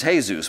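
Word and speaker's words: Jesús: he was Hispanic and his name was hey-zeus but it was spelled like Jesus and he said I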